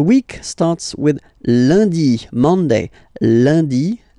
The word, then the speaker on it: lundi: in France the week starts with Lundy Monday lundi lundi ok remember and is pronounced like a lundi lundi lundi then Maddie